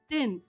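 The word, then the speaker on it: दिन: the previous one but the way you pronounce it is din with a short sound tin notice the difference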